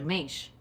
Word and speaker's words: Mensch: Como é que pronuncia? Mensch.